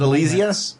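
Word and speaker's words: Alysia: Is it Elysia? Is that how it's pronounced?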